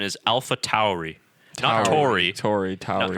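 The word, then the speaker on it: AlphaTauri: from what I understand the connect the correct pronunciation is alpha Tory Tory Tory Tom alpha Towery and I believe it's because of the you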